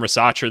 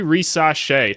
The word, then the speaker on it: Risacher: Zachary rashe I just went and looked up the name pronunciation cuz I've been calling him Racha this whole time I knew there was probably a different way to say it but you know what